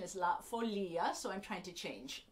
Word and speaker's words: La Folia: Folia for much of my life I have pronounced this La Folia which you may also know it as that